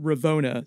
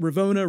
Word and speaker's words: Ravonna: He says it Ravona, so you could say it Ravona, Ravana, either way you want.